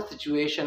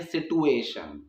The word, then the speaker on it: situation: अभी जो वर्ड है और जिसकी प्रोनाउंसिएशन है वो सिचुएशन है, ना कि सिटुएशन। तो सिचुएशन आप अगर बोलते हैं तो सिचुएशन ही ठीक है, किसी के इन्फ्लुएंस में आके उस चीज़ को आप सिटुएशन मत बोलिए।